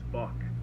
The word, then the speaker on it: Bach: last name is polish my last name is Bach it rhymes with bug five dollars to this